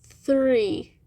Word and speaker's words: three: inici sente é difícil essa fonética esse som não existe no português fica muito complicado Tá mas é three three tá treina bastante